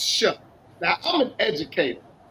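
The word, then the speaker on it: Shough: So, New Orleans Saints quarterback's last name is SH, but it's pronounced Shuck.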